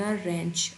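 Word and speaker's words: wrench: उसके बाद है the butterfly वेंट आउट but landed on द रच। अब यह देखिए। यहां पर डब्ल्यू साइलेंट है और हम इसको पढ़ते हैं रच ऑफ man fixing the कार।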